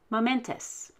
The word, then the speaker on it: momentous: left of the ous everything after the e is ent the ent is vowel consonant consonant or vcc therefore we will stress the ent momentous the same with tremendous